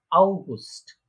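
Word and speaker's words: August: তারপরে আউগুস্ট। আউগুস্ট, অগাস্ট যেটা আমরা বলি ইংলিশে সেটা আউগুস্ট, ঠিক আছে?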